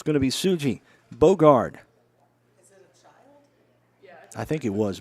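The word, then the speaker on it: Sugi: on tsuji Suki s-u-g-i sujis I hope I'm pronouncing that right makes me think of Sookie so I'd say yeah suji yeah that one's going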